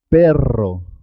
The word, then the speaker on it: perro: ser doble por ejemplo cuando se escribe doble dos RS siempre suena doble carro carro es importante marcar la r perro perro zorro zorro puedes